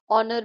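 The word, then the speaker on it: honour: Pneumonia में P silent है। ऑनर में एच साइलेंट है।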